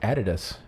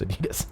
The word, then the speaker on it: Adidas: It's actually pronounced Adidas. I found that out and I was like, that's stupid. It's Adidas.